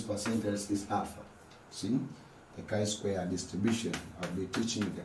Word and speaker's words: chi-square: teaching you about the chi-square say with me the chi-square not g Square this is called the